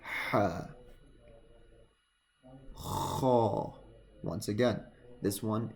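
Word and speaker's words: ح: Okay, you need to feel the air, the vibration from your throat if you want to pronounce this one correctly. Ha.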